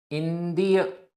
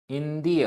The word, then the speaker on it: इंद्रिय: इंद्रिय निवारणे। इंद्रिय आधा ना और दा। इंद्रिय निवारणे।